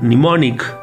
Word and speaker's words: mnemonic: The word mnemonic can be used as noun and adjective. இந்த வார்த்தையை பற்றி தெரிஞ்சுக்கிறதுக்கு முன்னாடி நல்லா ஞாபகம் வச்சுக்கோங்க, இந்த வார்த்தை எம்ல ஆரம்பிக்குது, ஆனால் அந்த எம்முக்கு உச்சரிப்பு கிடையாது.